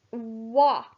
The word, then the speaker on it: what: Number 6, what. W-A-T. W-H-A-T. The A is making the O sound here.